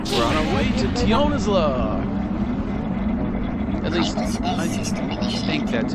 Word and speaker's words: Tionisla: We're on our way to Tionisla. At least, I think that's how you say it. Tionisla. Tionisla? Tionisla, I think. There's no I between that S and that L.